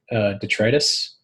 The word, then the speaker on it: detritus: required what's needed and what's detritus and yes that's the actual way you pronounce that I've been reprimanded by my wife several times so least always say Tetris so um the first